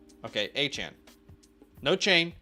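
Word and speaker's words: Achane: to be pronounced Devon a Chan okay achan no chain it's Chan not chain Chan achan got it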